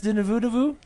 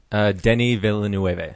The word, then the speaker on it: Denis Villeneuve: How do you say Dennis Villeneuve? Denis Villeneuve.